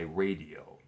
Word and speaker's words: Raydio: The name of the song is Jack and Jill by radio, which is spelled R A Y D I O.